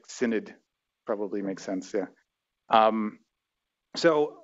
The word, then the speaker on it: synod: comes from the composition rules of multiple independent synote instances am i pronouncing that right does anybody know synod okay it's it's it's the name of like